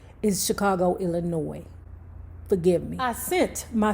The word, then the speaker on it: Illinois: and said No Name the S is silent so I apologize to the People by saying Chicago Illinois in Chicago Illinois forgive me I sent